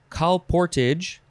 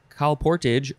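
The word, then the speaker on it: colportage: next we have uh you can pronounce it a couple ways you can say call portage cal portage or calportage calportage c-o-l-p-o-r-t-a-g-e noun from circa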